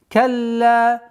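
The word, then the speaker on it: كلا: Калла. Удвоение ляма. потом ударение в размере двух огласовок.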